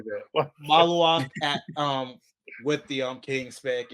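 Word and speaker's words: Maluach: I feel like I'm Malawak. Say saying that again, Ant. No, say it again, Ant. Dang, I can't even say it right now. Mal. Ooh. Maluak.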